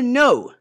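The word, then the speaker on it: know: e orou Diego You Now Diego você percebe que o k é mudo não é que Noé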